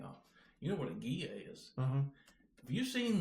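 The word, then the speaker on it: Ghia: You know what a Gia is?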